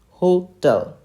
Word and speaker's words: Hotel: what is its phonetics phonetic spelling is h o h t e l l so we have to emphasize on this tell tell okay so it is hotel hotel hotel okay so friends that's